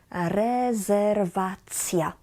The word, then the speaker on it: rezerwacja: So cja, cja, kolacja, restauracja, rezerwacja. Many words that in English and in T-I-O-N, in Polish will end with cia, like information, informacja, reservation, rezerwacja. So try this at home. Try saying cia, cia, cia.